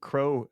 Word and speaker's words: kro: And like just high level elevator pitch, what does Crow do? Yeah, sure. So it stands for Kube Resource Orchestrator. And as you rightly said, it is pronounced crow, which is the bird, right?